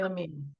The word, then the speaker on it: Lamia: Is it Dr. Mary Lamia? Yay. Is that right? Yeah, Um, Mary Lemmy.